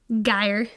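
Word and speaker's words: Geir: sense okay and then her brother GE e i r gear guy guy guy okay and then we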